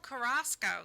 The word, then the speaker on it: Carrasco: Oh, Carrasco.